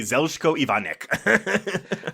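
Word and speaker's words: Željko Ivanek: I always say Zelko Ivanic. Uh which is probably also acceptable. Yeah, it's definitely one of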